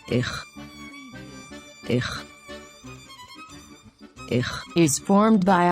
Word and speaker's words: איך: איך, איך, Do you remember that the letter aleph is a silent letter? In this example, the nikud sign under the letter aleph tells us to pronounce a long vowel a. This nikud sign is called צירה. This nikud sign tells us to pronounce the vowel a, as in the word excellent. So this word is pronounced as איך, איך, I hope you